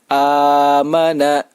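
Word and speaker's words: آمَنَا: bacaan mad badal Hai cara membacanya yaitu dibaca panjang sebanyak dua harokat amana nah bila kita menggunakan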